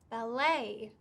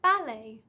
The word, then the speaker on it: ballet: to know is that american and british varieties of english can have different stress patterns for the same word this doesn't happen very often but it's just handy to know about so for example an american speaker would talk about going to the ballet but me as a